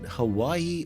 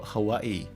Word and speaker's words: Hawaii: But is it Hawaii or Hawaii? Well, it's both.